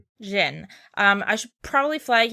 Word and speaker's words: Zin: So it looks like Zin but it's Jin.